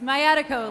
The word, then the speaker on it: Mayatiko: That was Matiko. I can spell that if you'd like. It's Mayatiko, like sciatica.